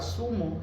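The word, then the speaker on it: zumo: of it in Spanish it's called sumu is is z u m o Tumo so this is it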